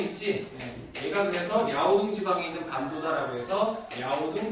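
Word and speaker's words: 遼東: 그래서 요동 같은 경우는 특히 뭐 야오둥이라는 이름도 중국식 발음도 쓰고요. 둥이 동쪽입니다. 아, 그리고 이제 여기 튀어나온 애 있지? 얘가 그래서 야오둥 지방에 있는 반도다라고 해서 야오둥 반도다라고 부르기도 해요.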